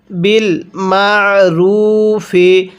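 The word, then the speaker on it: بالمعروف: হবে ওয়াল আবিনা এরপরে বিল মারুফি কিভাবে শিখবো বিল মারুফি আইনটা পড়ার সময় আমি গলার মধ্যে চাপ দিয়ে পড়ছি যার কারণে আইনটা সহিশুদ্ধ উচ্চারণ হয়েছে এরপরে হাক্কান আলাল মুত্তাকিন কিভাবে পড়বো?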